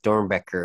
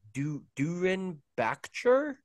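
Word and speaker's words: Doernbecher: And I was like, no, like, since he was, like, American, I knew that was the proper way to pronounce it, because there's no way an American's going to say, like, Dornbecker, looking at that.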